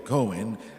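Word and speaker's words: kohen: fortaleza en la palabra cohein para sacerdote cohen lo pronuncian algunos esa idea es la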